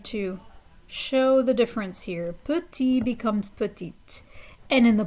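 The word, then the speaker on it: petits: that s the same the s is silent on the end so for masculine plural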